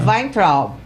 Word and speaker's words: Weintraub: E é Weintraub. Boa, você falou ainda com pronúncia do sul da Alemanha.